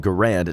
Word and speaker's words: Garand: The M1 Garand, which can also be pronounced Garand, depending on who you ask, is by far the most prominent firearm in the movie.